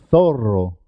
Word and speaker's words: zorro: ser doble por ejemplo cuando se escribe doble dos RS siempre suena doble carro carro es importante marcar la r perro perro zorro zorro puedes pronunciar tú